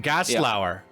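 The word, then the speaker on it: Gerstlauer: Is it a Gerslauer? Gaslauer. Gaslauer. That's how you say it.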